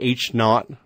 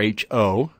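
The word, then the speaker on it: H₀: And the null hypothesis, frequently represented by H and O, and pronounced generally H-naught or H-O, is generally, in these pair designs, no difference in the groups being paired.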